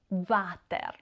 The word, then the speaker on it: water: In speech, people may say il water, pronounced water, or often as acronyms vuci or vici.